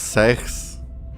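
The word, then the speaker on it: sechs: Fun fact, in German six is sex. I mean, it's pronounced sex, but it's like it's just sex.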